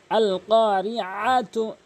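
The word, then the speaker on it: القارعة: আইন জবর আ, অবশ্যই আইনটি হলকের মাঝখান থেকে উচ্চারণ করবেন যেন হামজা না উচ্চারণ হয়। আল কারিআতু, আল মাল কারিআতু, আল কারিআতু, মাল কারিআহ, এভাবে উচ্চারণ করবেন। এরপরে আরও লক্ষণীয় বিষয় রয়েছে,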